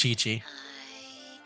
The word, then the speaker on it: Qiqi: uh this character which I'm going to guess is pronounced as Kiki but I guess we'll find out right now oh Chi-Chi never mind it is Chi-Chi you're a zombie next